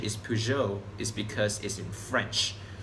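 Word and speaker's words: Peugeot: e OT p many people in Malaysia say puget I'm sure you say that too but the actual pronunciation is P Joe is because is in French of usual Persia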